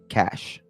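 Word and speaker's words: caches: Cash, right? Did I pronounce it? Yeah. Cash. Yeah. Cash. Right.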